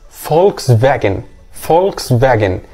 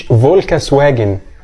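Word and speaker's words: Volkswagen: بقى العربيه دي هي اسمها فولكس فاجن مش فولكس واجن او دوت ممكن يمشي بالانجلش بس هو النطق الصح للعربيه دي في بلدها وفي العالم كله هو ده ليه لان في النطق الالماني الفي زي حرف الاف والدبليو بيتنطق زي حرف الفي فبتبقى بالمستوى شويه ونخش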